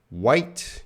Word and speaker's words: white: White, yeah, the H is silent.